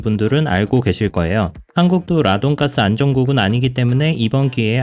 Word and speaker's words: radon: 가스라고 불리는게 있습니다 바로 라돈 있데요 영어로는 레이던이라고 발음을 합니다 오늘은 라돈 가스가 뭔지